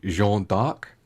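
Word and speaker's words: Jeanne d'Arc: do number two next the name joanna dark was taken from the french pronunciation of joan of arc pronunciation is apparently jean-dark and that is also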